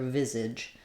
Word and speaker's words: visage: So we have first syllable stress. Letter I says the I sound. Letter S in visage says the Z sound. So I've rewritten that for you here with letter Z.